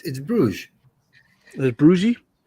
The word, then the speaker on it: Bruges: It's Bruges. Is it Bruges? It's spelled differently though.